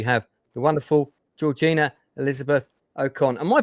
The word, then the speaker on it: Okon: So uh first of all, ladies, first we have the wonderful Georgina Elizabeth Okcon. Am I pronouncing that correctly? Okone or Okon.